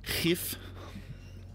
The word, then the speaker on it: GIF: It's actually pronounced GIF. It's pronounced GIF.